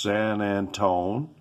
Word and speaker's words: San Antonio: anywhere in san antonio san antonio it's pronounced san antone and i've been dealing